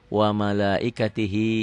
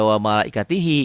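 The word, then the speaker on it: وَمَلَائِكَتِهِ: Wa malaikatih, jangan dibaca wa malaikatihi kalau dihentikan ya.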